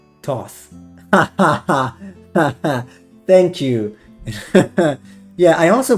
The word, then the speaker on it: Thoth: Thoth. Thank you. Yeah, I also pronounce it like this.